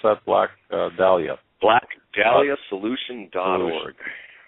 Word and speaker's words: Dahlia: I always want to say Delilah, but it's how do you pronounce that? Black Dahlia.